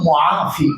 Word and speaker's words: মুআফি: আসলে মাফি কিন্তু উদ্দেশ্য না, উদ্দেশ্য হলো মুআফি। মুআফি মানে আল্লাহ আপনি সুস্থতা দাতা। উচ্চারণ ভুল করছে।